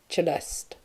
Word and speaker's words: Celeste: her name was Celeste pronounced with a sharp c as in chello cheste later in that day